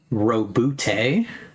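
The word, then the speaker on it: Roboute: But it is pronounced Robute.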